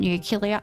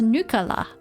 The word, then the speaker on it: nuclear: The issue is the deal with the frogs was a bit shoddy because they weren't nuclear. Ugh. I'm Homer Simpson. It's pronounced nuclear. Nuclear.